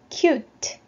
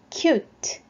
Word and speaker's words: cute: U는 U 발음이고요. 뒤에는 E는 묵음으로 소리가 나지 않죠? 자, 단어 발음은 cute, cute.